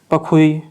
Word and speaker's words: Pakhui: क्या बोला है, पखुई। अब इसको पाखुई आप बोलो, स्पेलिंग मैंने लिख दी है PAKHUI।